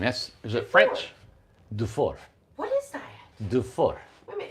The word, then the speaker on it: Dufour: And it is pronounced do 4. Do just 4. like that. Do 4. I love that name. Is it French? Dufour.